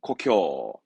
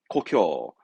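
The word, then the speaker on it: 故郷: 고향 발음은 고쿄. 고쿄.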